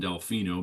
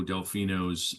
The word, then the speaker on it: Delfino: His dying words about um Dominic Delfino Delfino, I'm going to call him Delfino because that's what I've been um that's the the pronunciation that I've heard.